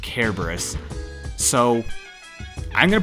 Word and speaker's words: Cerberus: I was taking a Latin class with a teacher who was from Greece, and she insisted it was pronounced Kerberos.